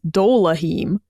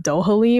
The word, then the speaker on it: Dohaleim: I read it as Doleheim and the whole time I thought his name was like the L first Dolehee and I think at